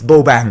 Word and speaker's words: Bobang: Joey and Bob am sorry for the previous videos pronunciation I'm like Bob um gobble bug hahaha it's Bo bang right so so these